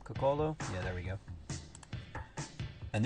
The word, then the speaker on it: Coccolo: This one is by Martin Coccolo. I think that's how you pronounce his last name, Coccolo.